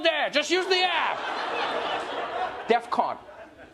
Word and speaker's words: DEFCON: not the point but that's not how you say it I know it's not the main issue here I know that Defcon 3. not Defcon 3.